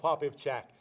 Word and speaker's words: Popivchak: you tell them your full name I can't pronounce it right my name is father poppy of chat I'm the priest at in Bridgeport Saints Peter